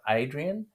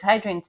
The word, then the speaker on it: Hadrian: Yes, then, as you said, we passed the Temple of Hadrian. Now, well, it's Adrian spelt with a H, but sometimes the H is silent in the Romance languages.